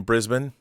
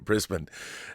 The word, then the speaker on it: Brisbane: going he's going to Brisbane and it's not Brisbane Americans say Brisbane but um that's when